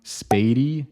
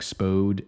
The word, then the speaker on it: Spady: So Lindbergh Boulevard, Clayton Road, and then this is how you pronounce them. Spady and Geyer are the other 2. I know it might look like Spode and Geyer, Spady and